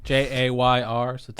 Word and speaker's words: Jayr Sotelo: Jayr Sotelo. Jayr Sotelo.